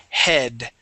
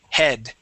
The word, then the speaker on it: head: You want to pull your tongue back so it can hit the top of your mouth.